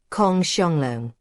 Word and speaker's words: Kong Xianglong: Xiang sort of rhymes with the English word song, except that the first sound is halfway between S and SH.